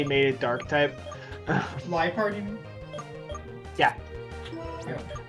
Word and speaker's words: Liepard: I sometimes appreciate that like they get like that like at least with Leopard they got like spicy and made it dark type. Liepard, you mean?